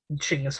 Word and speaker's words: Chinggis: Chinggis Khan, but he's more properly known as Chinggis Khan, as in Mongolian the K is silent.